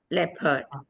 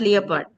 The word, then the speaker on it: leopard: The clever shepherd never fed the leopard. Not leopard.